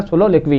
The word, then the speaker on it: soliloquy: थोड़ा सा प्रोनाउंसिएशन में ध्यान देना, सोलोलिक्वी है, तो उसको मिटाते हैं फिर आपको एक एक करके समझाते हैं उसको।